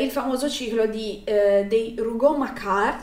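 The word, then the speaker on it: Rougon-Macquart: famoso ciclo di dei Rugo macar si dovrebbe pronunciare così di Emile Zola Dio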